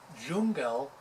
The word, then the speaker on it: Jungle: a silly love song jungle is pronounced so it rhymes with google as if we were